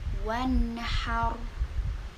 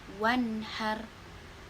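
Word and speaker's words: وانحر: Nun sukun ini dibaca jelas sesuai dengan tempat keluar nun tersebut. Gak boleh mantul, gak boleh wan, gak boleh juga wan, gak boleh ditahan. Lalu cara bacanya itu adalah wanhar, wanhar tuh.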